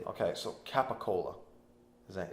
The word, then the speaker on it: capicola: one letter that he capicola is like ca PA Co it's like Cola exact but we say gabagool GOG a suit we